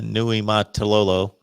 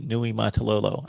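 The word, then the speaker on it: Niumatalolo: exceptional but would he leave navy can uh nui matalolo to go to kansas um yeah it's it's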